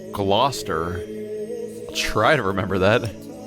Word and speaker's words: Gloucester: It's pronounced Gloucester.